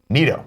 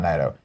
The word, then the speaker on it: Naito: Also, BTW, my name is pronounced Nieto. Nito. Oh, Nito. Nito. Not Naito. It's a fun Dark Souls reference.